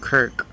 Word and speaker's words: kirk: trace that back to a scottish word pronounced kirk hence the reason why